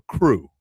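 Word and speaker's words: krewe: uh, my cousin was a member of a crew, and it's K R E W. That's how they pronounce it, the French French spelling of it.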